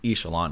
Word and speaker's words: Ixalan: So starting with Ixalan, I've heard it pronounced as Echelon. One of the guys who I used to work for at the LGS told me that it's pronounced Echelon, and I personally think that's a way better pronunciation.